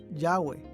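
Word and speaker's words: Yahvé: y h w h recientes descubrimientos arqueológicos han indicado que este término debe ser pronunciado yagüe yagüe es a menudo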